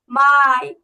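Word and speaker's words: Mai: তারপর মেকে কি বলবো মেকে কিন্তু আমরা বলবো মাই মাই মাই ইয়া মাই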